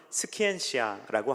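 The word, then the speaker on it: scientia: 라틴어로 읽으면 스키엔시아라고 합니다.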